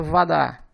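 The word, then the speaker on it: вода: Vadá. A sílaba átona é vo. Como o O está em uma sílaba átona, ele é pronunciado como se fosse um A, portanto a pronúncia Vadá.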